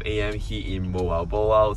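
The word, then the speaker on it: Moalboal: here in Moal Boal. So you guys actually taught me this last time because last time I pronounced it as mobile.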